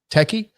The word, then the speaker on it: techie: yeah yeah is that is that techie or is that teach how do you say t-e-c-h-i-e techie that's techie jesus that's what i thought